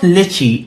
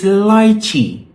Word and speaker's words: lychee: And so in the middle of Waitrose, this girl says, it's not lychee, it's lychee.